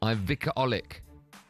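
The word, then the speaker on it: Olić: I might pronounce his name incorrectly. Ivica Olic. Is that how you say it? Olic, yeah. Olic. You remember that?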